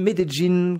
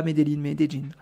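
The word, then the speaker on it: Medellín: à côté de Meline medin qu'on prononce ici pas minein je vous dis à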